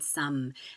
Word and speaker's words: sommes: Just like we don't pronounce the final S in nous or vous, we don't pronounce the final S in some.